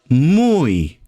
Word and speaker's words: muy: You would say ella estaba M-U-Y, muy cómoda. M-U-Y, that means very in Spanish, and it's pronounced as muy.